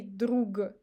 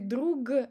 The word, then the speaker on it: друг: As you see, we don't say ложка. So we pronounce sh instead of zh because of k.